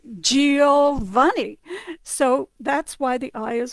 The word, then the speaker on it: Giovanni: And if you do GI, it's G, like Giuseppe or Giovanni.